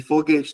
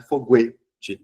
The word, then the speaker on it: foguete: QU e GU depende se o U tem som ou não. Querido não pronuncia o U, não é que. E foguete também não é foguete. Se o U não tem som, ficou um som só. Tá? Que é o som do G e do Q.